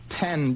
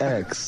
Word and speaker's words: X: that X or is it supposed to be pronounced 10 because it was your 10th album It's Roman numeral no it's X it's it's X yeah oh and also no